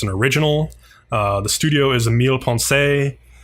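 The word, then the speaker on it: Millepensée: The studio is Emile Ponce. I'm pronouncing it the French way, but who knows how the Japanese actually pronounce it.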